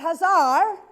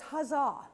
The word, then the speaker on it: huzzah: It's not huzzar. If you put an r sound at the end, it means your lower class, your cochnney. There is no r on that word. So it's huzzah.